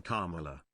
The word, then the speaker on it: Kamala: not mispronouncing things, but you slaughtered the name Kamala. Never change, my guy. Thank you, Slup, for the 10. I said Carmela Harris.